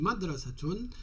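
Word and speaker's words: مَدْرَسَةٌ: Pour un nom féminin qui finit par un ta, on dit tun, donc là on est obligé de prononcer le ta, on dit madrasatun al-madrasatu.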